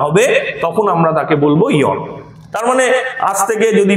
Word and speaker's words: aeon: ওকে, আচ্ছা, তো ইয়ন বা এটাকে আমরা AEON, ইয়ন, এই উচ্চারণটা রেফারেন্সে করব।